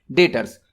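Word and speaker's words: debtors: डेटर्स, यहां पर B silent होता है।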